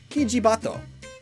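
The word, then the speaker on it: キジバト: This one is a bit more complicated though, so to severely simplify things, the Oriental turtle dove's Japanese name is pronounced, roughly, Kijibato, which translates to pheasant pigeon.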